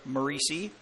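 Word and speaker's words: Moreci: pitch walk as Jake Maurice to the plate m o r e c i pronounced macei he is the third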